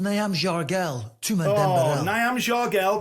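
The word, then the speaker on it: Nyamjargal: I believe it's pronounced Niam Jargel.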